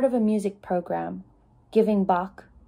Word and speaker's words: Bach: a music program giving Bach she pronounced it bark isn't that what is